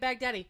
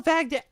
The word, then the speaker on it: Baghdad: Anyway, and then somebody brought up Baghdad. Who the hell? No. Because she said when she was trying to talk about Baghdad, she was pronouncing it Baghdadi, not just once as a mistake.